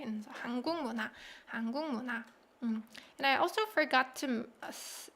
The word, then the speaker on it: 한국 문화: 한국 문화. Because of the consonant assimilation between 기역 받침 and 미음, right? And so 한국 문화.